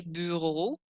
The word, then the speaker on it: bureaux: So the word bureau, aka a desk, becomes les bureaux with a silent X on the end.